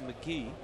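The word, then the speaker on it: McGehee: the Cubs organization and he does pronounce his name McGee got to the big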